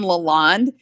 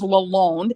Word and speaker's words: Lalonde: always called it well i always called him lalonde until i was corrected it was lalone so i started saying